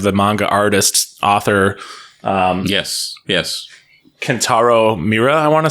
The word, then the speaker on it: Kentaro Miura: Kentaro Miura. I want to say that's how you pronounce their name. Yeah, Miura.